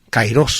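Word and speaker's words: καιρός: Se ha cumplido el plazo, o keros. Kairos solemos pronunciar nosotros, en griego moderno y posiblemente ya en el antiguo, en la época de Jesús, se pronunciaba la A y se pronunciaba E.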